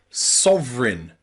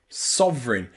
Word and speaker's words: sovereign: can sometimes just be pronounced I in words like counterfeit, counterfeit, or sovereign, sovereign. These are really advanced English words and they are not common in English. This is not a common way to pronounce E and I in English, but it is sometimes possible. So counterfeit, that E and I is the I, and sovereign. Counterfeit and sovereign.